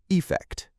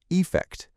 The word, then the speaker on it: effect: Both are stressed on the second syllable, but the first syllable in affect with an A is pronounced with a schwa sound, that very lazy sound that takes little effort to make. Affect. The first syllable in effect, spelt with an E, is often pronounced with an E sound. Effect. Effect. But you'll also hear people use a schwa, so they could sound the same, affect and effect.